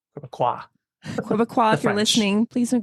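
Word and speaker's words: Québécois: green party and block quaqua so the S is not pronounced quaqua if you're listening please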